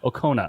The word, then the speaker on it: Okona: Robinson, on the Outrageous Okona? Is that how you say it? Yeah. Okona.